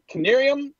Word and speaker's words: Knieriem: today very excited to have with us Kevin canarium he is the chief Revenue officer for clar